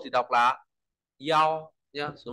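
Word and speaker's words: 一: l bải ta lưu ý số 1 thì đọc là Yo nhá số 1 đọc là Yo rồi b vì nghĩa là ở đâu đó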